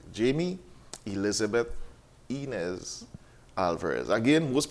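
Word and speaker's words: Jaime: So it is spelled J-A-I-M-E. Yeah. Jamie Elizabeth Inez Alverez.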